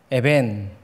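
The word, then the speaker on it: אבן: 도리라는 단어는 아들이라는 단어와 굉장히 비슷하게 발행됩니다 돌은 에벤 아들은 벤 굉장히 비슷하죠 예수님도 유대인이시니까이 발음에 비슷함을 알고 계셨어요 그래서이 두 발음을 가지고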